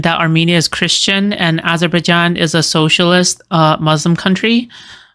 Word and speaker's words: Azerbaijan: Azerbaijan is how you say it.